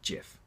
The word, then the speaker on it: GIF: been quoted as saying it's soft G pronounced GIF end of story well